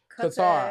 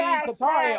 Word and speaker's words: Qatar: Qatar. I was about to say Qatar. Qatar. Yeah, you got a good point. I've never realized that it's not spelled the way we pronounce it.